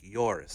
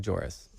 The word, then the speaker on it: Joris: my wife responded with it probably starts with a y sound like yoris Yori yeah that's I've heard that but just yoris so it could sound sound like joris yoris when they're doing the pronunciation I'm just trying to give them a little benefit of the doubt no it cannot sound like joris you're wrong about that what do you feel